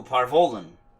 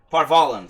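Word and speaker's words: Par Vollen: own that the old lady is old oh parvolen parvalen sorry i said it wrong the occupied north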